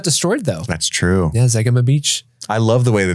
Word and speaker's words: Zegama Beach: How do you think you pronounce that? Zegama Beach. It's Zegema.